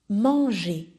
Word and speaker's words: manger: So the pronunciation again, we pronounce the G, the man. Man is a very new pronunciation for you.